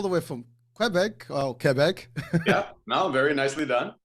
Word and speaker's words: Quebec: But as I looked into him, there's so much stuff about this dude, and hailing all the way from Quebec, oh Quebec.